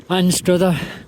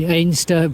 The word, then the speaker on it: Anstruther: Oh, Anstruther. Some people say Ainster, but we know someone who's lived there all their life and they've never called it Ainster.